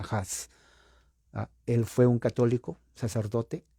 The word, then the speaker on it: Hus: es A, y claro, en español sería Us, pero se pronuncia Huss.